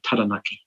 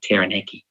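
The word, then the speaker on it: Taranaki: loud on my own say tanaki not tanaki because it felt wrong didn't roll off the tongue properly it was hard step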